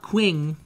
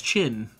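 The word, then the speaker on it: Qing: I also got uh I learned that it's not quing it's chin I'm pretty sure it's chin at least based off of the the pronunciation videos I watched they said yeah it's just chin so Yang chin easy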